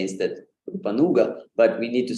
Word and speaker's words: Rupanuga: Gaudiya Vaishnava tradition, and it's mispronounced as Rupanuga. Rupanugas. We are Rupanugas. So followers of Sri Rupa, but not Rupanugas, Rupanugas. Rupanugas. Again, the same mistake is made, that U is made long, and we say instead